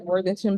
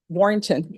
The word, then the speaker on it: Warrington: Norm, are we able to bring Warthington back on the 7th? We'll say Warrington.